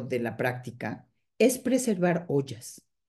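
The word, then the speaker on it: ojas: a ese eso que en ayurveda se llama ollas no sé si han oído esa palabra se escribe o J a s y la palabra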